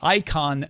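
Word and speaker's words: Eikon: Bill says, I've been using a fingerprint reader, the Icon Mini fingerprint reader. It's spelled E-I-K-O-N, for Microsoft Windows for nearly 2 weeks on my Windows 10 desktop.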